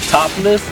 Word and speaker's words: 70L3SS: The name is Topless, but it's spelled 70L3SS.